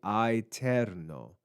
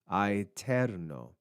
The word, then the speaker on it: aeterno: We have this diphthong, a, e. In classical or Roman Latin, this would have been pronounced I. You would hear both of the sounds of those vowels, a and e, joined together in one syllable. It would be aeterno, aeterno. But in ecclesiastical Latin, that diphthong changes its pronunciation. It's simplified into the sound e.